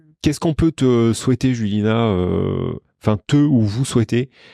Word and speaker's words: Julina: peux donner ton insta ouais mon insta c'est julina comme ça se prononce j l i n a ti du